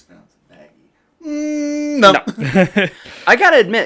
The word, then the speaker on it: Vaggie: bomb on us where vaggie is an angel yeah that was definitely uh huh they reveal like oh hey come on vagina or whatever vag vagi vagi it's pronounced vaggie vaggie yep that's what it is